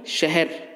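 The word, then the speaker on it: شہر: বাংলা উচ্চারণে শহর, উর্দু উচ্চারণে শহর। অর্থাৎ শিনকে, শিনের উপর জবর ও হায়ের উপর জবর, হা জবর দুটোই একটু তেরসা করে পড়তে হবে, যেমন শহর, শহর, শহর।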